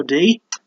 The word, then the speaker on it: Dy: roni which we thought was going to take five night it wasn't there was an undercard fight between Rondo D displayed beings Bob dy it's pronounced D against Shane young Rolando from the